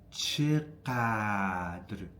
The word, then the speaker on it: چقدر: چقدر میخوری. So, stress is on چقدر on the first syllable.